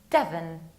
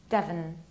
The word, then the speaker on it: Devon: It's Devon, nearly like devil. You need to reduce the ending. Devon.